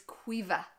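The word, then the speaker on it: Caoimhe: This is Cuiva.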